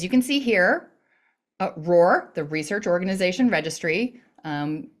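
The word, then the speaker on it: ROR: that so what is Roar um as you can see here uh Roar the research organization registry um usually referred to by its acronym which rhymes with the Lions Roar um is a global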